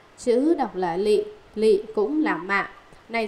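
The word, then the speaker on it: 詈: Chữ đọc là mạ, chữ đọc là lị, lị cũng là mạ.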